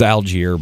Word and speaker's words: Allgeier: It's Allgeier, by the way. I still think that's wrong, but you say your name wrong.